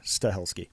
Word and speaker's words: Stahelski: it is s h e l ski yeah stahelski okay um if he was hired to do